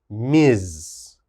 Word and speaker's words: Ms: is this one ms the ms is pronounced miz miz and we only use